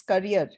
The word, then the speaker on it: career: Pronunciations and all, except for the word carrier, which is not carrier, it's career.